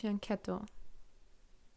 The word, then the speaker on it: fianchetto: Okay, so it's pronounced fianchetto.